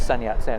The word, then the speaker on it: Sun Yat-sen: says Sun yat-sen and his name is actually songs young but it's the way it's written in the West is Sun yat-sen and that's how it's usually pronounced the story I'm sharing